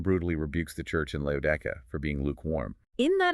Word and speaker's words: Laodicea: But if you pronounce it in Greek, doesn't it also have that exact same ia sound at the end?